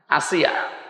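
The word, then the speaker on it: آسية: না, আইন সাদিয়া, আসিয়া শব্দের শাব্দিক অর্থ অবাধ্য, আর হামজা দিয়ে আসিয়া মানে বাধ্যগত বান্দি, সৌভাগ্যশালী। তাহলে আসিয়া না আসিয়া? হ্যাঁ, আসিয়া হামজা দিয়ে।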